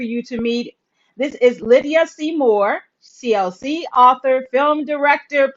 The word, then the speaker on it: Lid'ya: my name lydia so instead of lydia it's like lead yeah so lydia yeah libya so what